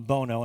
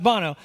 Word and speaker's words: Bono: Bono, some of you call him Bono, unfortunately. It is pronounced Bono.